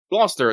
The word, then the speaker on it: Gloucester: Norwich the Port Town how do you pronounce this which one Lester glester ah glester Gloucester yeah welcome to this everybody yeah it's Gloucester glester the city of fashion